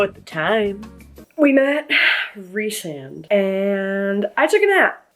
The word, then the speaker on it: Rhysand: I just called my friend who loves the series and she said it's Rhysand, not Rysand, because that's what the audiobook says.